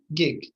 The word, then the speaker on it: gig: this word it's uh it's a hard g right it's g gig so what does it